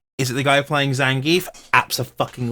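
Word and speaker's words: Zangief: that so it wouldn't it wouldn't be pronounced Zang no it's zangi Russian so so the EI or whatever makes the e in Russian yeah he's he's Russian it's e I'm Russian you are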